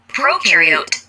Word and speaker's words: prokaryote: Prokaryote, the pro rhymes with no.